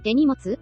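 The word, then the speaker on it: 手荷物: 일본에서도 같은 한자를 쓰지만 일본어로는 한자어 음독이 아닌 훈독으로 手荷物 라고 발음합니다.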